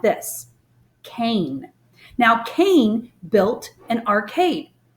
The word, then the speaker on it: Caine: al team in it with a long a sound so you say his name like this Cain now Cain built an